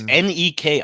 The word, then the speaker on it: Neki: And Necky's, is it Necky or Nikki? I want to get that clarified, because doesn't she spell it with an E? And it's Neki. I always say Necky, and a lot of people end up.